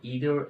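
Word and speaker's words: either: समझने की कोशिश करेंगे आइर और नादर को इदर एंड नीदर भी जो है प्रोनाउंस किया जाता है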